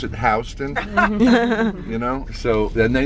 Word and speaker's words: Houston: And they were very agitated about this because it clearly says Houston on the sign, but we pronounce it Houston.